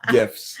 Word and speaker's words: GIF: And Ricky said it's a GIF, not GIF. The G is silent. Wait, soft. It's soft, not silent.